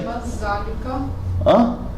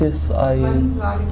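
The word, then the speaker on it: من ذلك: Maz zalika. Maz. There's a noon as well. Noon. Yes. Man zalika.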